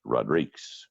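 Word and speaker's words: Rodrigues: D RI qu easy in Spanish you pronounce it Rodriguez and in Portuguese it's Rodriques so if you cannot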